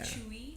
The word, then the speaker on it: CHUI: the name sure um that's why i wrote it like the way it's pronounced yeah chewy yeah which which helps